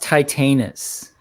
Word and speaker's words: Titanus: first Power titanus you guys keep talking it's pronounced titanis okay tight anus tius there you go tius